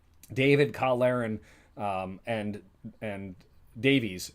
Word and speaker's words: Davies: Karen um and and Davies who I keep the last one I kept pronouncing it Davis the influence of watching a Welsh Squad is Jonathan Davies turned into Jonathan Davis and I've that's on